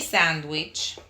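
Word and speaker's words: sándwich: Te doy mi sandwich. Sandwich tiene acento en la A.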